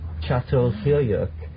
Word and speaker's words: Çatalhöyük: It's actually spelled C-A-T-A-L, but it's called Çatalhöyük.